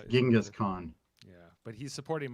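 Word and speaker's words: Genghis: that you know it's gingas Khan yeah but he's supporting my my rating it is actually jingus jingus it's actually chenis if you want to say it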